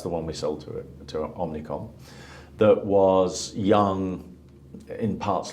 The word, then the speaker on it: Omnicom: Right, did I pronounce that correctly? You did. Omnicom.